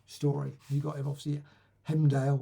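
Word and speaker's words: Heimdall: You got him obviously Hemdale or Humdale, however you pronounce it. Or is it? No. Oh yes, Hemdale.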